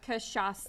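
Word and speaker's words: cachaça: first off we're using kasasa three syllables kasasa it's basically a sugarcane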